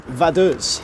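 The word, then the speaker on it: Vaduz: already this city is called Ethan please your pronunciation vus and that is the capital of lonstein lonstein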